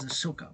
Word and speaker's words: Ahsoka: We're not gonna be movie, but it's gonna be the series known as Ahsoka, part of Star Wars. Ahsoka. I tend to pronounce it a little bit vice versa. Ahsoka, Ahsoka, Ashoka, Ahsoka, Ashaok.